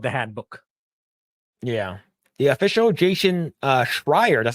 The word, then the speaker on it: Jason Schreier: The official Jason Schreier, that's how you say it, about the failure of yet another live service game is out.